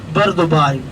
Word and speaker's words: Bur Dubai: First off, it is the district called Bur Dubai, B-U-R, Bur Dubai, not a pronunciation Bur. It is a Bur Dubai.